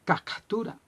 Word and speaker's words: captura: y hablaba de la captura. Se dice captura porque se escribe con P.